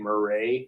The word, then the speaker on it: Murray: People think that it's pronounced Murray. It's actually Murray.